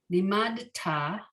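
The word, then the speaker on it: לימדת: Limadta. Okay, there's no shva under the dalet. I think I mispronounced it the first time.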